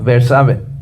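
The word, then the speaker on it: Beerseba: fue para salvar su vida y vino a Berseba. ¿Cómo se pronuncia? ¿Lo pronuncié bien? Sí. Okay. Gracias. Berceba, que está en Judá, y dejó ahí a su criado.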